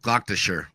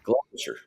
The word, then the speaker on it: Gloucestershire: Gloucestershire. Yeah. Gloucestershire.